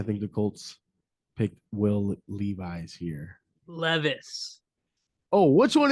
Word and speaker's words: Levis: That's funny because I'm also thinking quarterback here, and I'm thinking of your first round pick, Will Levis, or how do you say it? Levi's? Levi's? No, it's Levis.